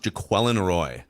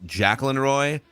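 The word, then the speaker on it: Jacquelin Roy: I believe it's pronounced Jaquan Roy. I've heard it pronounced Jacqueline Roy, Jaquan Roy, and then I heard one of the national.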